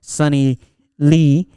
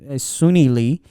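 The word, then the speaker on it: Suni Lee: to congratulate the girl sunny lee that one huh suny leaves oh okay i'm sorry i pronounced it different is sunni lee for winning the olympic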